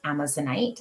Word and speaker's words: amazonite: resonates with us but yes that's correct i pronounce it amazonite and you can see i have some pieces